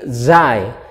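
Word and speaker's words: زاي: Zain Zain Zain memakai huruf z bukan huruf j tetapi huruf z karena memang bunyinya menjadi Zain Zain Zain nah seperti itu kemudian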